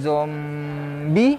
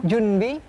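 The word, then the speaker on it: 準備: Dokuritsu Zombie. Itu main hidup. Jangan itu. Jadi Dokuritsu Junbi Kosakai.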